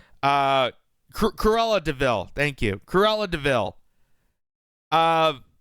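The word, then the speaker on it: Cruella de Vil: of the democratic ethos the the the uh Camila DeVille did I pronounce that name right uh Corella DeVille thank you carella DeVille uh of the heinous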